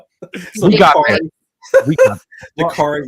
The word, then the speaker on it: Dakarai: Dakarai rhymes with safari.